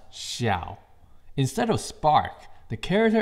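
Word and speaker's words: 晓: Secret number one, of course, DJI Spark has a Chinese name since it's designed and made in China, and it is pronounced Xiao.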